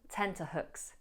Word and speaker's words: tenterhooks: The only pronunciation pointer I would give here is not to lengthen the double O. Hooks. It's not hooks, but hook, hook, hooks, hooks. On tenterhooks.